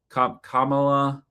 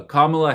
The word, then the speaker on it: Kamala: Um, Kamala Kamala Harris uh Kamla Harris I think is how you pronounce it.